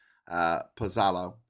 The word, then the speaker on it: Pozzallo: It's double Z is T, isn't it? Like pizza. It's TZ. So that's Pozzallo.